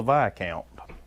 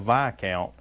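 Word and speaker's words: viscount: as well as the vi count i actually had to look that up to make sure that's the proper pronunciation of vi count because somewhere in this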